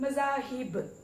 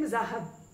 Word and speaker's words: मज़ाहिब: Number 3 मज़ाहिब, हम कहते हैं मज़ाहब या मज़ाहिब, या मतलब प्रोनाउंसिएशन में है कि नीचे जेर है।